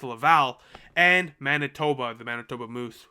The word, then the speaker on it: Laval: i shouldn't be able to pronounce it not pronounce that i got family in laval so it's a little embarrassing it's laval and manitoba the manitoba moose which play in